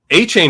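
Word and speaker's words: Achane: just for good measure a chain is right though and that's a fun way to pronounce that name a-c-h-a-chain it's pretty sweet Zach Evans boring name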